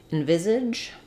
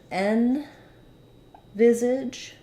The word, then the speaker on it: envisage: question about the word envisage so and Visage has the stress on the viz syllable um that means that we can say this as n Visage um or this might